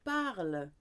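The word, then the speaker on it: parlent: Il, elle, on parle. Nous parlons. Vous parlez. Il, elle parle. Silent E-N-T.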